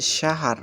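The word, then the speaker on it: شهر: মাসকে আরবিতে বলা হয় শাহার বা শাহর একেকজন এ এক ভাবে উচ্চারণ করে থাকেন শাহার বা শাহর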